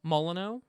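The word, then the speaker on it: Molyneux: pronounce his last name molino at least i'm pretty sure that's how it's supposed to be said uh it's probably got the french silent x yeah it probably does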